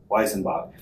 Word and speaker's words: Weisenbach: on Election Day, November 3rd, 2020 in Pennsylvania, Postmaster Rob Weisenbach, did I say it right? Yeah. Weisenbach, directed my coworkers and I to pick up ballots after Election Day and provide them to him.